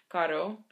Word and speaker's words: caro: But when you just spell it with one R, it's not a R sound. It's just a R, just shorter. Caro.